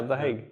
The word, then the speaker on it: The Hague: Yeah, The Hague.